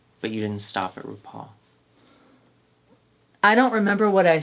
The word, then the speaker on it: RuPaul: But you didn't stop at RuPaul. I don't remember what I said, And you'll but I was doing wall. RuPaul rhymes with wall.